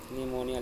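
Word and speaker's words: pneumonia: आई्स पढ़ेंगे इसको आई निमोनिया लिखा देखिए इसमें पिसाइलेंट है आपका निमोनिया में लेफ्टिनेंट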